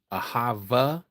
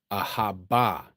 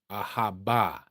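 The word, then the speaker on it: אהבה: Ahava is not the pronunciation. That is Yiddish. Ahaba. Ahaba is the true pronunciation.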